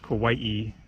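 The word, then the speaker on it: Kauaʻi: You pronounce like both of the I's kind of like, yeah, so it's Kauai in Hawaii.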